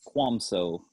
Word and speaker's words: Kvamso: last name for us it's kwam so oh that is not how everybody pronounces it no it doesn't look like that so here's what we